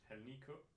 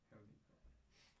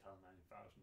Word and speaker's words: Hal9K: So in Danish we say Hal9K. Hal9K. And in English I don't think we have a pronunciation, but Hal9K is fine.